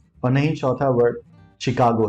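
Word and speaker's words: Chicago: तीसरा word machine है और नहीं चौथा वर्ड शिकागो है इट्स नॉट लाइक इन सारे वर्ड्स में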